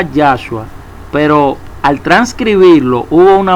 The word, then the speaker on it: Yahshua: Pero ya cuando se tradujo el nombre de Yahshua, se pronunciaba Yahshua, pero al transcribirlo hubo una mano negra detrás de todo esto.